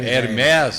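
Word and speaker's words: Hermès: Até a pronúncia não é Hermes, é Hermes.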